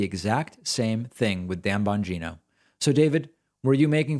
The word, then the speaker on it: Bongino: when you pronounce dan bongino's name incorrectly the i is pronounced as a long e and not an i bongino i only bring this